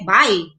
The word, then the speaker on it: balay: But in Cebuano, balay can be uttered like bay. Nasabay na ka, okay? But in Cagayan de Oro, we speak balay.